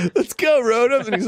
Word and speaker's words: Rotom: Pronounce it like Rotom. Yeah. That's exactly right.